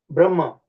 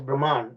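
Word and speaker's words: ब्रह्म: Brahma. Sanskrit word is called Brahma, but the English, they mispronounce it as Brahman or Brahma, you know.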